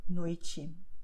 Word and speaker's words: noite: The same happens with TE, but only at the end of the word. Okay, so you have Tiago noite. Okay, so this is what you do here. Okay, Tiago noite, and that's it.